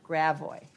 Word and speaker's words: Gravois: Louis, you have to pronounce it Gravois.